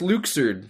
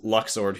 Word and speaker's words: Luxord: If anyone's listening and saying, "Uh, it's pronounced Luxer. Shut up." No, it's not. I hate it. I refuse. Yeah, that's that's dumb. It's Luxor.